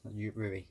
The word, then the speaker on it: Ruri: Ruri. Yes, Ruri. That's how you say it.